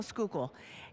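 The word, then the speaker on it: Schuylkill: I said, "Do you know how to spell skookal?"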